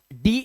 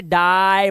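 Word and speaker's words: day: जैसे डी ए वाई, डे। अब इसे डाई मत पढ़ देना, इसे ट्राई मत पढ़ना है, क्योंकि ए के बाद वाई है, तो ए के बाद वाई हो तो ए का उच्चारण, ठीक है।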